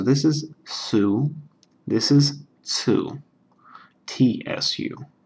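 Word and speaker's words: つ: is Sue this is two TSU like in tsunami that sort of thing um or at the end of the word nuts or cats there's a little it's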